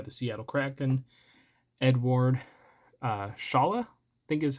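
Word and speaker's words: Šalé: everything uh coming from a Czech League it's pronounced Shala um he is now uh participating in the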